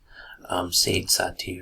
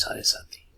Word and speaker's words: Sade Sati: And I know the spelling doesn't seem like it. You might be pronouncing it as Sade Sati or something, but the fact stands that the proper pronunciation is Sade Sati.